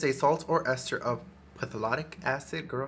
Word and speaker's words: phthalate: Paraben, latex, dye, sulfate, and how do I pronounce that word? Pilates free? Pathalates? Let's see how you say this. Google. pH2 halate. It says it's a salt or ester of phthalate acid.